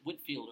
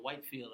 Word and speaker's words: Whitefield: The British minister George Whitefield, or Whitefield, I've heard it pronounced both ways, but Whitefield comes to the colonies and also will be preaching during the 1740s and 1750s.